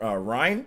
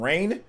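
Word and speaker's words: Reyn: review at first, dude, they mispronounced. They called them not nopons. They called them like napans or napans or something like that. They called them instead of Rhine, they called them rain.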